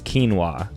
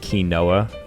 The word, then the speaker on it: quinoa: have a closer look the first is quinoa so the one on the right not key noah cool uh almond so